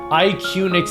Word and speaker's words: Iquinix: Iquinix is how they say it.